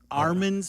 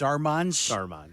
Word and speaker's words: Armand's: way to Armand's Pizza, which we always pronounce as Armand's Pizza, like my Irish mom's Armand's Pizza. Yeah. Then as I'm in my 20s and I go back and I realize it's Armand's.